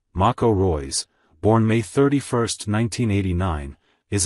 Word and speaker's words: Marco Reus: November 11 2021 UTC Marco Reyes German pronunciation Mako Roy's born May 31 1989